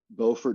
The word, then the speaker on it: Beaufort: into to you know Beaufort North Carolina and you say Beaufort that's South Carolina by the way spelled exactly the same but it's Beaufort in South Carolina it's Beaufort in North Carolina if